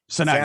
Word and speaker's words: Sanok: on his podcast a few months ago, Joe Sanok. Joe, welcome to the Gonzo Experience. Thanks so much, David. So excited to be here. Did I say Sanok? That's how you say it, right? Sanok.